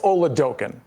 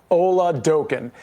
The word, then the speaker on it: Oladokun: I I think it's pronounced Chris Oladokun. Oladokun.